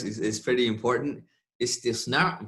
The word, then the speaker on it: istisna: Istisna versus istithna. Manufacturing contract versus an exception to the general rule.